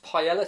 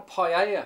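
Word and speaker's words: paella: with was the face Pella no paa you pronounce it paa who does well the Spanish do for a start but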